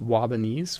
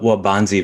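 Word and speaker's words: Waubonsie: It's is it pronounced Wabanese Valley High School? Wabanzi Valley.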